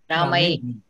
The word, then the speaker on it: रामैः: So Visarga, the pronunciation of Visarga should follow the vowel comes before the Visarga.